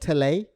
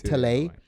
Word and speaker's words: Talay: So it's called Tele. I wonder if I'm pronouncing it correctly. Talah. Talay. Talay. Got it.